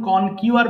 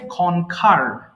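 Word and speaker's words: conquer: console console এরপর কনকার এটাকে আমরা সারাজীবন কন কিউআর বলে আসছি এটা উচ্চারণ হবে কনকার কনকার জয় লাভ করা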